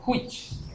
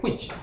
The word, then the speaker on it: which: Ahí da lugar al siguiente comando, que es este comando si no tiene abreviatura, es el comando which, la palabra cual en inglés. ¿Cómo se escribe which?